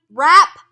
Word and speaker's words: wrap: Mom likes to wrap presents. Great job! We don't pronounce the W in wrap.